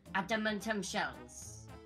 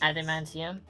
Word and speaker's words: adamantium: thing we need is adamant shells you mean adamantium adamant shells adamantium adamant shells say it like I do Adam Adam andum Anum